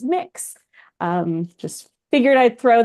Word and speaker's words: Mx: I would prefer the gender neutral MX you can pronounce it as mix um just figure I'd